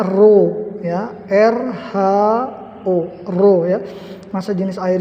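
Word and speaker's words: ρ: t tapi agak miring ini adalah dibacanya roh ya er huruf2 jenis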